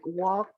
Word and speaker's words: walk: pronunciation of words like walk would could talk it is very important for you to remember that when we use this word the l is muted okay it doesn't sound it has no sound